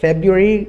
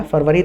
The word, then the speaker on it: February: Actual में ये फेब्रुअरी इसका प्रोनाउंसिएशन होता है, लेकिन फरवरी बोलने में भी मुझे नहीं लगता कोई नुकसान है, स्पेशली जब हम अपने इंडिया में बोल रहे हैं।